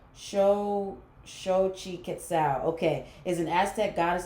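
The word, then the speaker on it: Xochiquetzal: Okay, so I see beauty in everything, and it's pronounced Shochi Quetzal. Shochi Quetzal.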